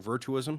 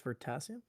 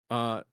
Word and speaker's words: Veritasium: Virtuism? I think it's Veritasium. Veritasium. Virtuism. Potassium. Yeah. Veritasium.